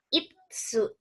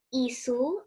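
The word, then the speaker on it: いつ: Nah, kemudian kalau teman-teman mau tanya kapan, gitu ya, kapan itu bahasa Jepangnya itsu. Jangan kebalik ya. Kalau isu itu kursi, tapi kalau itsu ada T-nya, itsu itu artinya kapan.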